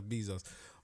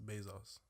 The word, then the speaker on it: Bezos: I think you just you're adding an extra e or there's just an e there no it's be e not be these O's Bezos Basil's I say Basil's no you said B Zoe's fair enough yeah all